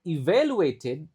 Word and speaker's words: evaluated: The presentations were evaluated, E-nya dibaca I, lalu A-nya dibaca E, evaluated by peers and instructors.